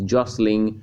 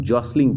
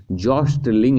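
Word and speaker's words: jostling: यहाँ पे इसको हम लोग जॉसलिंग पढ़ेंगे, इसको जो टी होता है उसको हम लोग साइलेंट लेकर चलते हैं, जॉस्टलिंग नहीं, जॉसलिंग पढ़ा जाता है, धक्का मुक्की करना।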